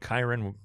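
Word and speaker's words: Kyren: We needed the rhyme, but Kyron rhymes with Byron.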